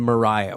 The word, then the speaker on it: Maria: normally rate Maria but for whatever reason is pronounced Mariah and that is where